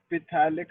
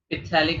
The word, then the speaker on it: phthalic: इट इज a polymer of Ethyl glycol and phthalic acid. पिथैलिक acid नहीं, silent है वो. Phthalic acid. Phthalic acid.